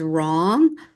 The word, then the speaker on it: wrong: write your name or this is wrong both with the w that the W is silent throat has a vowel